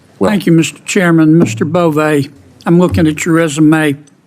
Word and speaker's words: Bove: Bove, I'm looking at your resume. It's Bove, right? Bove, Senator, like Bove, with a long I E.